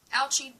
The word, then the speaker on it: Ouchy: Lee raises his hand your name rhymes with grouchy grouchy ouchie are you a grouchy teacher asked Lee you are right Lee ouchie does rhyme with grouchy but today I'm not